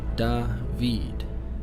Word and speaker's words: David: and first grade David he answered pronouncing the word funny he said dah veed it took me a